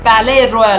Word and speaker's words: Palais-Royal: yes there's one thing this Palais Royale is with a silent s guys again you can